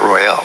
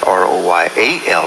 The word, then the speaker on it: Royall: everything that is then proper pronunciation of my name is royal not royal okay and the reason why that is if you if it was ro y al it would be royal however if my dispelling